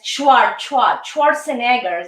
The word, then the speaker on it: Schwarzenegger: Yes, Schwarzenegger. This is the pronunciation.